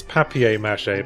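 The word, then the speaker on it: papier-mâché: glad to hear it it's papier-mache by the way if you're gonna pronounce one of the word French you might as well pronounce both of them what's mache mean I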